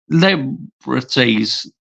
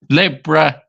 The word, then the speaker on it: Libertadores: won the Copa Liberties. Libertadores. Let's see how I can pronounce this right. Libertadores, that's it.